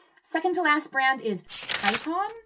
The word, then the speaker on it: Kiton: Second to last brand is Kyon, spelled K I T O N.